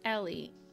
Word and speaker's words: Elle: My name is Elle, but it's pronounced Ellie.